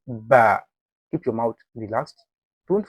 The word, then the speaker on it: ب: Ba.